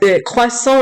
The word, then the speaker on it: croissant: Tiffany Maurice Christie, croissant is pronounced croissant, and pain au chocolat